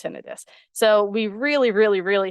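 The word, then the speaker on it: tinnitus: or if they do they don't know his pronounced tenidis so we really really really have to break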